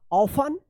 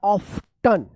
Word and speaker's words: often: OFTEN, क्या पढ़ेंगे इसको, इसका दो उच्चारण है, एक तो ऑफन, क्या पढ़ेंगे, ऑफन या ऑफ्टन, ये दोनों उच्चारण करते हैं लोग, लेकिन सबसे ज्यादा जो अभी उच्चारण हो रहा है वो ये हो रहा है ऑफन।